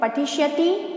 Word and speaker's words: पठिष्यतः: तो पठिष्यति, पठिष्यतः, पठिष्यन्ति। नेक्स्ट लिखा है पठिष्यसि, पठिष्यथः, पठिष्यत। आप लोग देखिए यहाँ पर जो 2 डॉट विसर्ग लगे उनका उच्चारण भी आपको करना जरूरी है, ठीक है।